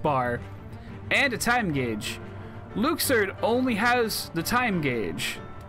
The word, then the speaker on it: Luxord: I like Luxord, and I'm gonna keep calling him Luxord, because that's how his name is pronounced. Apparently.